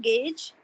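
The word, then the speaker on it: gauge: good good any other yeah yeah it's the pronunciation is Gage and the spelling is gge when we write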